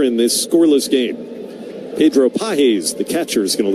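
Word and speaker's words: Pagés: Pedro Pahes, the catcher, is going to lead off. The right-handed hitter takes one in at the knees. Cutter for strike one. Spelled like the English word pages.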